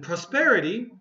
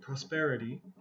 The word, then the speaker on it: prosperity: And prosperity, okay, be careful with the pronunciation here. Prosperity.